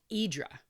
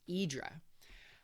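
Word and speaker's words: Hydra: Uh, it was called Idra. starts with an H, spelled H Y D R A, but it's pronounced Y Idra.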